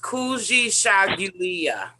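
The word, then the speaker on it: Kujichagulia: trying to unmute are you saying all right pronounce it for us then we'll see it together it is kuji shogulya she's sure she shogulia there we go all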